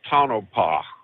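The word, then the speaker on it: Tonopah: where the where the spirit is that's actually pronounced tonopa tonopa tonopa Arizona yeah okay all right figured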